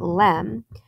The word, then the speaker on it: LM: caption reads the lunar module or LM pronounced Lem she was lm5 but